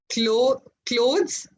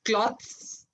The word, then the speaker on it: clothes: Clothes and cloth. It's not cloths, it's clothes.